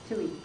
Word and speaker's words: Tuohy: Our next speaker is going to be Tuohy. Did I pronounce that right? Close. How do you pronounce it? Tuohy.